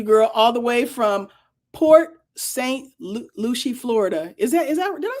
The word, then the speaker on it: Port St. Lucie: See, Port Lucy, pronounce Lucy, Port St. Lucie. Okay, thank you, Maya. I didn't add luscious dame to the end of it. Port, what is it? Port St. Luscious.